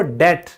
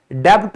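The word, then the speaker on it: debt: आप कहते हो डेट, डेब्ट नहीं कहते।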